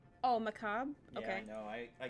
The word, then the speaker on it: macabre: magazine called Damien's products the refined marriage between macabre and chic. For those 3 weeks, the monster prom seemed larger than life, and then it was gone, just like that. What? It's pronounced macabre. Oh, macabre?